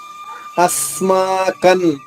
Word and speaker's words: అస్మాకం: అస్మాకంతు ఆ పైన ఆఘాతం తీసుకుంటూ స్మాలోని సాద్విత్వం చేసుకుంటూ, అంటే ద్విత్వం అంటే మీకు గుర్తుంటుంది కదా, 2 అక్షరాలు. ద్విత్వం అంటే 2 సాల్ అవుతుంది. అస్మాకన్ కా తర్వాత అనుస్వరం ఉంది.